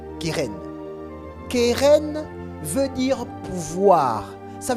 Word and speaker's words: keren: Keren, s'écrit K e r e n. Kéren, keren veut dire pouvoir, ça veut dire puissance.